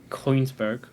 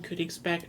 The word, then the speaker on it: Königsberg: Kongsberg. Kongsberg? I Königsberg. can't pronounce it.